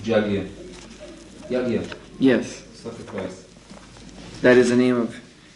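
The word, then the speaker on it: yajna: You're actually saying Yagya. You're saying Yagya, you just pronounce it Jagya.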